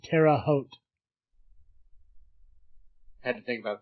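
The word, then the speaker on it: Terre Haute: Terraote.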